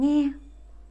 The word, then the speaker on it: nghe: Âm tiếp theo cũng có cách đọc giống như âm vừa nãy chúng mình đọc đấy. Quan sát vào hình, chúng ta thấy đây chính là hình ảnh một bạn đang lắng nghe. Nghe, chúng mình cùng đánh vần. Ngờ, e, nghe, nghe. Ngờ, ngờ, e, nghe, nghe. Vậy, âm mà chúng mình học tiếp theo cũng phát âm là ngờ.